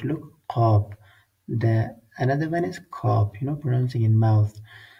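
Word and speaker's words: قاف: This Qaf is pronouncing in throat. Look, Qaf.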